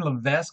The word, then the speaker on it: Levesque: is something that Ryan Levesque has really been pushing a lot in the last couple of years. Or Ryan Levesque, I just found out yesterday he didn't pronounce his S, and I've known that.